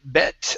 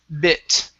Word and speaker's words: bit: here at the beginning you said bet a bet uneasy okay it's bit tom looked a bit